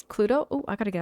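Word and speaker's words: Cluedo: Cludo. Am I pronouncing that correctly? It's Cludo.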